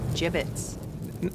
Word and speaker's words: gibbets: here dead end hey look avery had some gibbots left over gibbets what it's pronounced gibbets are you sure yeah well no one likes